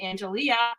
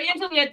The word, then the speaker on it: Angelea: bring in Tim and Angelea. I said it right. It's Angelea. Yes.